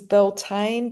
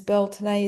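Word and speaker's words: Beltane: the Beltton or Sain full moon belt um which many pronounce as Belain but the Gaelic pronunciation is Beltune is the rights of spring.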